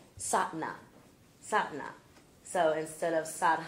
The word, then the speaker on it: Sadhana: night we read about sadana that's the way I pronounce it MTA was here and it's pronounced satna satna so instead of Satan I guess the ha is not pronounced so it's sat sat